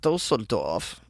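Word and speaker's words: Düsseldorf: busted a pizzeria in the western city of dossor dorf did I say it correctly yes that's right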